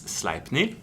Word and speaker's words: Sleipnir: And for Sleipnir, it's Sleipnir.